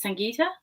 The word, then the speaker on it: Sangita: Uh my first name pronounced as Sangita and uh the switcher is not my last name.